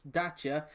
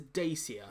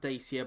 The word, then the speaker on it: Dacia: me and say it's dacha that's how it's pronounced in Romania but over here in the UK it's pronounced as Dacia so just before anybody